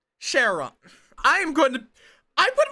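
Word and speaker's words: Charon: right in 3 weeks Kon as in Sheron I'm going to I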